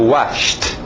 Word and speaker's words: washed: E o passado, washed. Só o som de T. Depois nós vamos explicar. Escrito ED, eu sei, mas a pronúncia de um T.